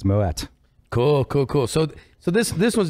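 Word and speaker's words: Moët: but it's actually a moet because the family was Dutch if they were French he wouldn't be pronouncing the T but they were they were Dutch way back in the day so it's moet cool cool cool so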